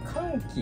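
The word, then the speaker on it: 肝気: すけど、肝臓の気と書いて肝気と読むんですけ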